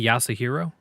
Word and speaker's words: Yasuhiro: about a man uh the way I've been pronouncing his name is yasu hero yasu hero the you may be more of like an a yasa hero yes sir hero I think the U is almost silent just so it's just